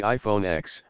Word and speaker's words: iPhone X: for the iPhone the iPhone X although it's pronounced 10 was the redesigned Apple